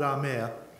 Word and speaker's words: Amber: It's spelt Amber, but it's called Amir.